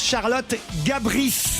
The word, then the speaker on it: Charlotte Gabris: Alors, il paraît qu'on prononce Charlotte Gabris.